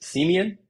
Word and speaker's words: Semien: There's an interview recently with Marcus Semien. Is that how you pronounce Yep, his name?